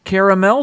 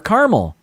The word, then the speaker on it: caramel: is apropos it's national caramel day or caramel i kind of like this i grew up saying caramel but it's spelled caramel there's an extra a in there so um let's see